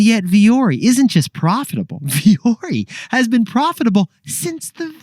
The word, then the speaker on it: Vuori: do you pronounce it it's vori it's not Vari or VII it's viori which is nothing like it spelled and it's finnished for